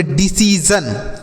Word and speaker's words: decision: और SION को जन पढ़ा जाएगा। क्या पढ़ा जाएगा दोस्तों? जन। तो इसे हम पढ़ेंगे डिसीजन।